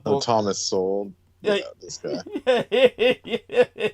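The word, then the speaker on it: Sowell: He opens the book and Thomas Soul, this guy, my uncle was always like, you got to listen to Thomas Soul, whatever his name was. What was his name? Say his name. Saul.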